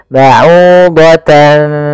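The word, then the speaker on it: بعوضة: Maka ba'udatan seakan-akan ada ng, tapi bukan, karena dia ikhfa.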